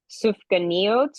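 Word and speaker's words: סופגניות: They had um and I have to pronounce it correctly, sufka neot, which are jelly donuts that you see still today a lot of times associated with um with Hanukkah.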